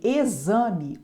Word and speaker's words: exame: tem som de x em exame o X tem som de z exame Têxtil o X